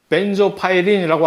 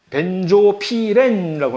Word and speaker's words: 벤조피렌: 근데 여기에 그 소수 물질의 대표적인 아주 유명한 벤파이라고 발음을 할 수 있는데 이것을 한국에서는 주로 흔히 벤조파이린이라고 안 그러고 뭐라고 하냐면 벤조피렌이라고 합니다. 맨조피렌이란 물질 혹시 들어본 적 있어요?